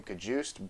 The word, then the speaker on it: Cajuste: of the backfield devin i think he pronounced his name cajust but i prefer to pronounce his name kahuste because come on that's so much fun to say kahuste man enough to admit